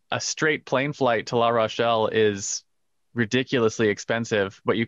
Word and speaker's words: La Rochelle: And I'm going to pronounce this incorrectly because I'm not French, but the manufacturer we're looking at has their factories in La Roche, I believe. La Rochelle. There we go.